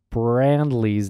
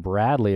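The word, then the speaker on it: Brandley: just want to apologize I pronounced Clarence brand Lee's name wrong I think I called him Bradley a few minutes ago but uh can we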